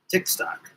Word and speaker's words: TikkStk: Ticktock. Yes, it rhymes with Tik Tok. It is not Tik Tok.